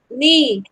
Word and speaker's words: knee: Yes, so let's read out these words with silent K letters. Okay? Yes, ma'am. Knee, Ni.